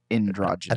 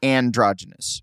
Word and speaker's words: androgynous: yeah I said in I think I said androgenous I think you said ad you said ad